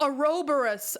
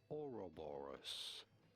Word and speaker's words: Ouroboros: Oh, Ouroboros.